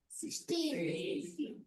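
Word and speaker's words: sixteen: 1 six 16 stress on the second part.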